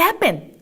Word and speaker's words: happen: 라고 했을 때 우리가 what happened? 막 이런 말 하잖아요. 그래서 이럴 때 우리가 happen 이란 단어 어떻게 발음한다고요? 해에다가 en 붙었네요. 은으로 끝내볼게요.